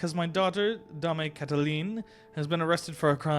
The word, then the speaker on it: Cataline: The final E is silent. Cataline, then? Okay.